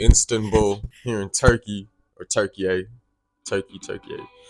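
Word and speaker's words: Türkiye: So, as I told y'all, I came all the way from Texas to Istanbul here in Turkey, or Turkiye. Turkiye. They say it's pronounced Turkiye.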